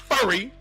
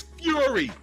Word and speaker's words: Fury: name correct it's not furry it's not furry like your girlfriend's hairy back not furry it's Fury Fury and here listen in